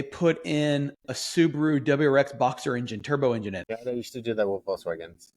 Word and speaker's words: Boxster: Why do you say Boxster? It's a Boxster. There's a T in it.